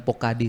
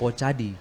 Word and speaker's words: Pocadi: Untuk nomenklatur atau cara baca ini bukan Pokadi sebenarnya, tetapi Pocadi. Oh, Karena Pocadi. kan kepanjangannya adalah pojok baca digital. Oh, Pocadi. Oke, Pocadi baik. untuk cara penyebutannya seperti itu.